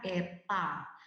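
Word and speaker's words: η: ini disini efisiensi dilambangkan dengan huruf Yunani dibacanya Eva dan tulisannya seperti huruf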